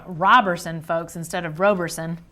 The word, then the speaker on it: Roberson: Roberson, folks, instead of Roberson. Robertson without the T.